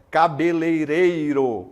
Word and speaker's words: cabeleireiro: Temos aqui, ó, cabeleireiro em vez de cabeleireiro, né? Tem o meme, cabeleireira Leia, não sei. Tem um memezinho, mas o certo é cabeleireiro.